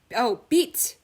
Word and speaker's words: 빛: Okay okay, someone explained, they said: "light: 빛 by itself is pronounced as 'bit' but it is usually